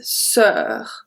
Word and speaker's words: sœur: So, sister is sœur. Sœur. It's the closed sound. So, and sister pronounce exactly the same way.